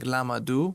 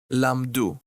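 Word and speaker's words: לָמְדוּ: So rather than saying lamadu, which is 3 syllables, lamadu, 3 syllables, we'll pronounce it correctly in 2 syllables. Hem lamdu.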